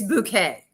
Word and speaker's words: Bucket: Her last name is spelled Bucket, bucket, but it's Bouquet.